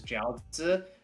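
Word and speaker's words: 饺子: I think in Japanese they would call them I don't know how you pronounce it, but in Chinese it's jiaozi.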